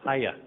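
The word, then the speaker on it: Puye: Return to Paya, I was told. Hiya.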